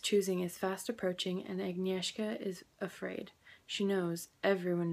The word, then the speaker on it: Agnieszka: The main character's name is probably the most difficult, but it's pronounced Agnieszka.